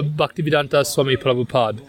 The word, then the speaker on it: Bhaktivedanta Swami Prabhupada: How do we pronounce that? I think it's a Bhaktivedanta Swami Prabhupada.